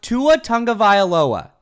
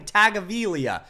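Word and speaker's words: Tua Tagovailoa: His name is pronounced tua tonga vioaoa. Not hard. Tua tongue o violoa.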